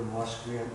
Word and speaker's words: Musqueam: Well, down there, that community is called Musqueam, but the actual pronunciation for Musqueam is Homothqueam.